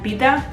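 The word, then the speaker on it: Peeta: El segon personatge sí que té una miqueta més de gràcia perquè és el Pita dels Jocs de la Fam i jo al meu cap li deia Peta.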